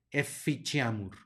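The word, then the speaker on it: efficiamur: que hay que enfatizar tenemos una c seguida de una I que va a sonar como Che por lo tanto esta palabra se pronuncia eficiamur eficheamur luego tenemos una doble s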